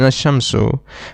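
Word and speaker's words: الشمس: For example, in a shamsu we directly connect the hamza with the sheen ashamsu and we leave out the lamb.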